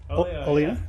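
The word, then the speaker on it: Olio: One of my favourite tracks is it, how do you pronounce it? Oleo? Oleo.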